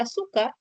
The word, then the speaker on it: azúcar: O por ejemplo, en la palabra azúcar, su se va a considerar como una sílaba tónica, mientras que las demás son átonas.